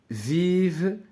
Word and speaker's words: vivent: Au bord de l'eau vivent, donc ça c'est le verbe vivre, ENT كذلك هذه ما غنطقوهاش. Au bord de l'eau vivent des animaux comme les canards.